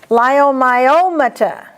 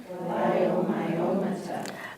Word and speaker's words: leiomyomata: Leiomyomata. Leiomyomata. And you might just cross that E out. You don't say it. Cross it out.